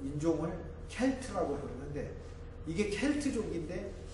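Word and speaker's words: Celt: 아일랜드 사람들을 이제 종족, 그 인종을 켈트라고 부르는데 이게 켈트족인데 미국에서만 켈트를 스 발음을 해서 셀트라고 부르고 보스턴 농구팀을 보스턴 셀틱스다, 보스턴 셀트족이다 이렇게 이제 부르고 있습니다.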